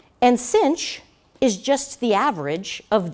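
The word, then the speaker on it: sinh: we're gonna define now Cinch which is the hyperbolic sine and that really is how you say it you say cosh and Finch it's kind of silly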